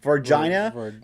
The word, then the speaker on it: Varginha: All right, I can't pronounce it with the cool Brazilian accent, like Varginha, Varginha. It almost sounds like vagina.